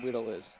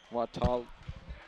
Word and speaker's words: Watalis: Whittles. Watalis. Watalis. Watalis. It's good somebody knows how to say it.